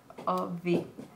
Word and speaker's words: of: O V. Bank of Spain. Uh-huh. It's a schwa plus V, as in, yeah, because you make it shorter, like fish and chips or rock and roll.